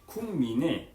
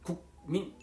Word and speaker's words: 국민: 그 예를 들어서 국민을 발음하게 되면 민을 발음하기 위해서 국민 이렇게 텀이 생기고 힘을 줘야 돼요.